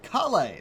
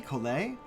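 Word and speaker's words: Collei: them how they look like they should be pronounced, and then they do this, like, Kale! No, wouldn't it be Kole?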